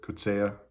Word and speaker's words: Coetzee: Coetzee a little bit, Coetzee, which is the correct pronunciation, South African pronunciation.